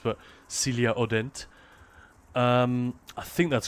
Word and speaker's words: Celia Hodent: I think she's French so I don't think the H is pronounced but Celia Odent.